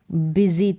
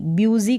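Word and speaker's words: busy: अब मैं क्या था बिजी था क्या था बिजी मतलब कि व्यस्त तो इसका उच्चारण बिजी बूजी करके नहीं होगा बिजी आई वाज बिजी फिर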